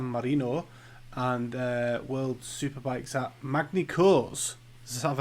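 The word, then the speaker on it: Magny-Cours: and World Superbikes at Magna-Cours. Have I said that right this time? We don't pronounce the S. Oh. French don't pronounce their S.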